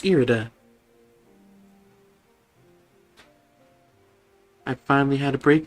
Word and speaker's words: Irida: will change everybody here erida haven't i had trouble pronouncing your name like all game no it's fine no because i just i just i just finally was like oh it's irida i finally had to